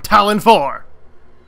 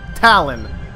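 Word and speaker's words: Tallon: I don't know if that's the correct pronunciation that's how I pronounce it yes there's two L's but I pronounce it with one L Talon like the Talon of a Eagles claw yes but we're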